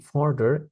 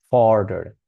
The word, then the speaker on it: further: So it's going to be further y esa U en medio de palabras de una o dos sílabas por lo general suena como una sílaba